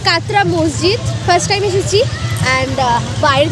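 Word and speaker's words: কাটরা মসজিদ: আগেই বলে দিচ্ছি আমি, ভিডিও শুরুতে আমি জানতাম না প্রপার নেম, আর ভুলভাল স্পেলিং দেখার জন্য আমি ভুলভাল প্রোনাউন্স করেছিলাম। মৌসুমীদি বলো, ব্লগ হচ্ছে তোমার। এই জায়গাটার নাম হচ্ছে কাতরা মসজিদ।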